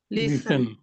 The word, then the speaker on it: listen: দেখেন ইংলিশে LISTEN উচ্চারণ কি করেন? লিসেন এখন যদি লিসেন। কেউ যদি বলে আপনি লিখলেন টি উচ্চারণ করলেন না কেন, কি ব্যাখ্যা দিবেন?